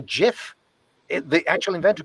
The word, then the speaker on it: GIF: even if he is he used to call it a jiff the actual inventor called